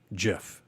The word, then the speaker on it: GIF: ahead and select animated GIF. That's the technical, everyone calls it GIF, but apparently a couple of years ago it came out that you pronounce it as in the peanut butter GIF.